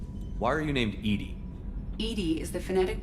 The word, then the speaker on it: EDI: is a jar why are you named Ed Ed is the phonetic pronunciation of Eed that that is an acronym